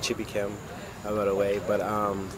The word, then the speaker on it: Chibuikem: descendants from Nigeria um and the name is pronounced chippy Kim I got away but um it means got